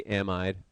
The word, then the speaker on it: amide: it should be it it's spelled like should be amide but we say amid for whatever reason um so this is